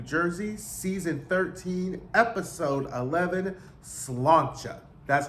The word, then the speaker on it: Sláinte: I'm here with another review of The Real Housewives of New Jersey, Season 13, Episode 11, Sláinte. That's how you pronounce the word.